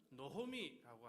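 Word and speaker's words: נָעֳמִי: 자, 여기 보면은 나오미라고 하는 단어 보시면 원래는 노미라고 하는 발음 하는데요.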